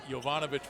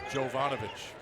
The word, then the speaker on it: Jovanovic: 15 with the basketball for those of you wondering he's Serbian normally it's pronounced yovanovich we've checked with the Sid we've been told it is jovanovich two on the shot